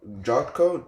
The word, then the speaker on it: Jotko: Jotko.